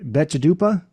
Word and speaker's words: Betchadupa: Drive Phantom Planet let me see if I pronounce this right betchadupa yep okay the vines hog boy those are